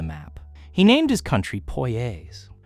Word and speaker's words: Poyais: Cazique of Poyais.